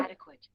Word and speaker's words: adequate: Adequate. Adequate. Yeah. So this phonetic representation also shows you that the stress is on first syllable.